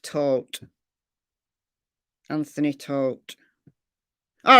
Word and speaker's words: Todt: Anthony Todt, like he, grim details. It's tote, but it looks like tot. It's T-O-D-T. But it's pronounced tote.